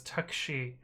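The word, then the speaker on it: タクシー: Oh, you don't pronounce the U, so it's takshi.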